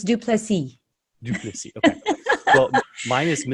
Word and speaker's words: Du Plessis: with Duplessis. Is that the correct pronunciation?